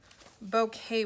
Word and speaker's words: bouquet: All right, say the word bouquet with me. Bouquet. How many syllables? Bouquet. 2.